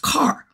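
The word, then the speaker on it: קר: This word right here is a Hebrew word, Q-A-R. It's pronounced car, right?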